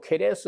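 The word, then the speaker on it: Ceres: 1세레스란 말은 그 라틴어에서 세레스 혹은 케레스라는 것도 하는데 발음을 영어권에서는 세레스라고 하고 뭐 독일어 내지는 이 이탈리아에서는 C를 K로 해가지고 케레스 이렇게도 해요.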